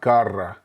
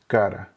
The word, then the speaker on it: cara: It's also not at the beginning of the word, and it's not together with another R, so it's not cara, it is cara.